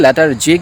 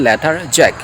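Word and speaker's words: lethargic: আই এম লেটার জ্যাক অনেকে এটাকে লেটার জিক বলে বা উচ্চারণ হবে লেথার জ্যাক লেথার জিক আই এম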